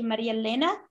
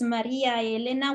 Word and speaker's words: Maria Elena: say my name because in Italian is Maria Elena which is three conjoined vowels that don't don't merge together so it's hard to